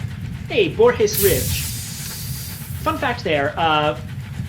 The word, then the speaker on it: Borges: And yes, uh you it it is pronounced Borhees because uh Spanish. Now, of course, I may be entirely wrong and that's not like a reference to Boreshees and I should be pronouncing it Borges, but I'm not wrong.